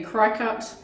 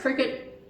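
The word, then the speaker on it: Cricut: do not play cricket that is cricket or you might say crycut uh it is pronounced cricket and they have sent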